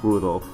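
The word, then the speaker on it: Rudolf: it's just morons anyway this guy's name is pronounced Rudolph aha he must hate grandfather for giving him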